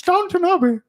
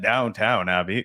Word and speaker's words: Downton Abbey: It's Downton Abbey. Downton Abbey. Nobody calls it Downtown Abbey. Yo, you want Did I the say- Downtown I Abbey? didn't say downtown. No, you Abbey. didn't. But it's spelled Downtown Abbey.